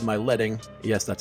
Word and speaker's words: leading: The client said my leading, yes, that's how it's pronounced, was too tight for my text.